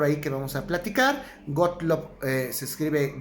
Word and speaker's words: Gottlob: Hay otro autor por ahí que vamos a platicar, Gottlob, se escribe Gottlob, G-O-T-T-L-O-B, Gottlob Frege, Gottlob Frege.